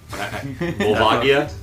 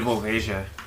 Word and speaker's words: Volvagia: Volvagia. That's how I pronounce it. What What did you say yesterday, Tippy? Volvagia. Volvagia. Yeah. I always said Vulvasia.